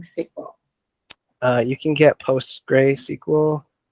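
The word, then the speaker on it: PostgreSQL: uh you can get post gray sequel so this is post gray that's what it's spelled like sql for free you can use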